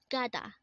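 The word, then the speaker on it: 가다: is it next word is Kata again it's Gada this is a verb which means to go again kada means to go next word is Hada again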